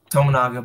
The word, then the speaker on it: Tominaga: I mean, in some games, it's someone other than don't want to say his name wrong. Jack said it before. Tominaga. Number 30. Tominaga. They say Tominaga.